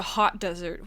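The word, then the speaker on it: Hautdesert: like a desert it's it's spelled like hot like hot like hot ho hot couture h-a-u-t-e yeah so for brevity's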